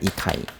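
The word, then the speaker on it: 잇대: 거기 가드 사람 이때가 있대요. 이때. 누가 있다고요? 이때. 이름이 이때예요. 이때. 원래 발음은 이타이입니다. 이타이.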